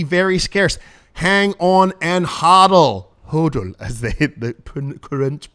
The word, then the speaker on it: hodl: Hang on and hodl. Hodl, as the current pronunciation is.